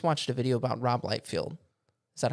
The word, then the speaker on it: Liefeld: Well, I was actually I just watched a video about Rob Liefeld. Is that how you say it? Rob Liefeld. Liefeld, yeah.